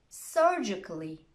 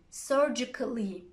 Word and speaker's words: surgically: the letter A, but if a word ends in ICA, double L, Y, most people don't pronounce it. Here are some examples. Try to copy them after me. Automatically, basically, logically, practically, surgically, romantically.